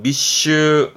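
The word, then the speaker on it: 密集: 자주 나옵니다 뭘까요 그렇죠 비밀의 밀자 밀집돼 있는 발음은 미슈 미슈 편자 편집 하네요 행슈 행슈 새 글자도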